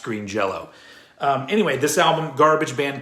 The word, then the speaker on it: Green Jellÿ: end of it, but the umlaut means it's still pronounced as an O.